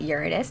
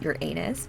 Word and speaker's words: Uranus: the zodiac uranus yes i pronounce it uranus not your anus but whatever you can